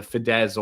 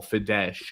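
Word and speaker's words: Fidesz: So you know and I think the party fed I can remember to pronounce it either Fidz or Fidesh. Fidz yeah is is their has been their political movement all this time.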